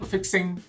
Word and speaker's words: fixin': video sure yeah but we don't need the g ah fixing you know fixing fixing facing fixing if you